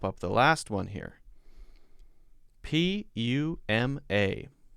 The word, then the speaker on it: Puma: I've always called this Puma. Poo instead of pew.